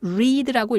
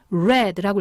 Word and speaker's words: read: 똑같아요 그런데 발음이 달라집니다 현재형만 리드라고 읽고 과거형과 과거분사는 red라고 읽으셔야 돼요 빨간색이란 뜻의 red하고 발음이 똑같습니다 자 그러니까 여기서는 have